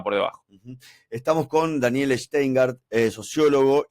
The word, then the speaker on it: Schteingart: Estamos con Daniel Steingard, eh sociólogo y director de planificación productiva en fundar y profesor universitario.